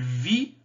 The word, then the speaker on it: vit: le m se prononce il vit ils vivent lever se prononcent mais le thé du singulier ne se prononcent pas il vit ils vivent